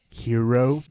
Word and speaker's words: gyro: I believe it's pronounced hero.